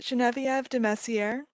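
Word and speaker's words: Genevieve de Messieres: state your name uh incorrectly fitwe mang steve genevieve hello my name is my name is genevieve de messiere that's spelled g e n e v i e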